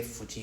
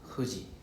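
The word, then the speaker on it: 富士: Because there is no f actually it's supposed to be h sound. So is h u. So how we pronounce fuji is actually huji.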